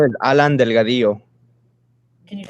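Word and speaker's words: Delgadillo: their statements uh yeah my name is Alan Delgado can you spell that name please yeah a-l-a-n space d e l g a d i l l o and that's Delgado yes Delgado thank you Mr Delgado um today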